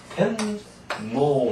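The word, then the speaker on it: 天皇: 황장고 이렇게고고 이렇게 하지 않아요 근데 이걸 어떻게니까 덴노 이렇게 있잖아요 그래서이 고가 연성 형상이 이렇게 생겼다 이런 뜻입니다 그래서 텐노 한다이 이런 얘기죠 텐노 그죠 텐고 텐고 하니까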